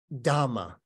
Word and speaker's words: dhamma: this is a poem by a nun just known as dhamma which is the poly pronunciation of Dharma so it was a